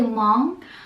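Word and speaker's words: Hmong: if you don't know I'm actually long which is spelled h m o n that's my ethnicity and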